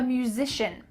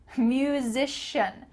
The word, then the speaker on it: musician: interior designer i'm a musician this word is kind of tricky music musician musish practice that with me musician musician i'm a